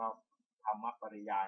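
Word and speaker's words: ธรรมปริยาย: ปริยาย นี้ ว่า อ จะ อ่าน ว่า ธรรม ปริยาย นะ ครับ พะ ได้ ฟัง ธรรม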